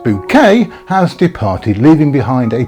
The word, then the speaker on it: Bucket: Yes, Hyacinth Bucket, pronounced bouquet, has departed, leaving behind a perfectly laid table for one last candlelight supper.